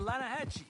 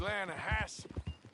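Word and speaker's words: Lannahechee: some beautiful steelhead trout you mean the lanahashi river no no no no no the lana hatchy it runs right near here yeah but it's pronounced land hass why is everything in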